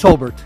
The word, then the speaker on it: Hobart: And by the way, is it pronounced Hobart or Hobart? It's Hobart.